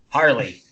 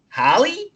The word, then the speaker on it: Harley: Tom cool whatever cool Harley that's how I'm going to say my name over here or they go or they go I go hey I'm happy and they go Holly like Halle Berry so every time I